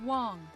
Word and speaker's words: Wang: Negative, Evelyn Wang. My navigation systems aren't operating as intended. It's pronounced Wong, and your systems are in error.